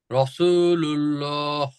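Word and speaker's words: رسول الله: রাসুলুল্লাহ রাসুলুল্লাহ রাসুলুল্লাহ লুল্লাহ লা বললেও সঠিক হচ্ছে না লুল্লাহ রাসুলুল্লাহ এইটা হচ্ছে সঠিক উচ্চারণ এগুলোর কিছু গ্রামারের কায়দা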